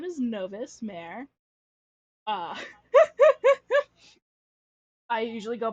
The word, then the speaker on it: Novis: by Novus novice whatever A lot of people pronounce it novice and I honestly pronouncing it novice is probably the best thing you could possibly do because I am definitely